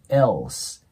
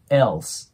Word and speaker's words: else: けどこの elos のこの L の部分はダーク L と呼ばれる音になって刃の裏側ぐらいに下を押し当てて発音するんですねなのでこれが EL になるとね下を弾いちゃうと日本語っぽく聞こえるのでえ歯を当てて ELse ELse こんな感じになりますこれちょっと言いにくい